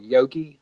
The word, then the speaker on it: Yogi: got at GenCon called yogi have you seen this how do you say it again yogi it's like yeah it's like yoga but it's Y o GI okay like Yogi Bear yeah but like yogi